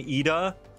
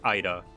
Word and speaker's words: Ida: called the hurricane hurricane eda while edo was there but it's not pronounced either it's ida hurricane ida like idaho dang ita yes going back